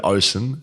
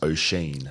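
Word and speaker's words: Oisín: Osen as in Osen Mullen is pronounced Osheen.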